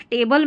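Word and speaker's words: table: जैसे एक टेबल में देखें टेबल में यहां पर टी ए टे एक स्लेबल ये हो गया और फिर बी एल इ बल यानी टू स्लेबल है।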